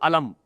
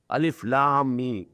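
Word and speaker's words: الم: Because they are pronounced separately. Al if l mean you can't pronounce it alam you can't join although they are written together alif l and mean they are joined together but you can't read them joined together alif lamb every letter you have to pronounce separately that is why they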